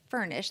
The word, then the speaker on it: Fernish: Now we're seeing the rental model move into the home goods space with startups like Furnish, that's spelled Fernish, and larger corporations like IKEA, making it possible to rent rather than buy furniture.